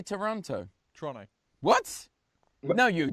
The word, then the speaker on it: Toronto: be said but because they lose half the syllables and just call it trowel like get mad when I pronounce it properly it's Toronto but they're like no